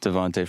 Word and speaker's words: Devonta: the message from Alex, technically it's Devonta. Oh, my bad. I'm pretty sure it's Devonta. Is it Devonta Freeman? Yeah, I don't know if he pronounces those last part of his first name Tay. I think it's Devonta.